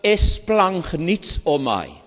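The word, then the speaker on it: σπλαγχνίζομαι: So I'm going now to pronounce it as a sound and you will hear it. 제가 그것을 말씀드리겠는데요. Esplagnitzomai.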